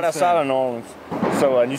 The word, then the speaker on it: New Orleans: I'm from right outside of New Orleans.